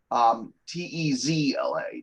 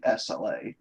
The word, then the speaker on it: Tezla: Not spelled like Nikola Tesla or the shitty car. Tezla, not Tesla.